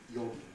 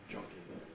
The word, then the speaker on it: jogging: So that will give us yogi. It should be jogging.